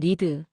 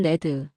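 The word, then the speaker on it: read: 레드. 현재형으로 읽으면 리드 과거형으로 읽으면 레드.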